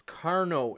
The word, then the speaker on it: Carnot: knowledge is power gosh power I guess I mispronounced it its Carnot engine sorry about that I happy self isolated